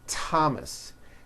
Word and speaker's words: Thomas: with a t H they are pronounced as if they were spelled with a normal T TT like that and these words are Thomas Thompson Teresa Thailand temps